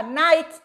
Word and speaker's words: knight: có chữ ở đâu Nhưng cái âm đó mình không phát âm và Mình chỉ đọc đơn giản là nay giống như từ nay